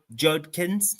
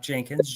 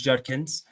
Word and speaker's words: Judkins: gonna put quinan J J Judkins not Jenkins Judkins and Trey vion gota pronounce